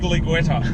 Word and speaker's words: Giulietta: are famous for having weird names like the Giulietta or Guiglietta. Guigla. We sound really uncultured by not being able to actually pronounce that. I'll do you the perfect pronunciation. It's the Guiglietta.